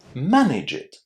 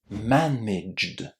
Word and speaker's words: managed: If you added an extra syllable, you would say manage it. In other words, you would be giving me an order to manage something. So, it's very very important not to add this extra syllable and say managed. Managed.